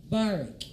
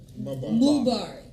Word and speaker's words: Mubarak: We got Barak in the building. Did I say it right? Mubarak. Oh, I was so focused on Bark because I be like, "What's up?"